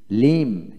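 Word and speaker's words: limb: তারপরে এল আই এম বি লিম লিম, এল আই এম লিম।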